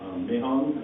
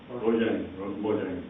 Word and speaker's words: Mojang: All right, so so you can create a new Mahong account. Mahong? I don't know. How do people pronounce that? Mojang, sorry.